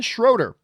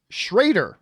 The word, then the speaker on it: Schrader: Aaron Schroeder. Schrader is pronounced.